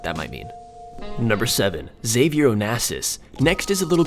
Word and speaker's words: Xavier: creative plan words which if you say Xavier how it's some pronounce it Savior Onassis it comes out something like save your own asses also in this episode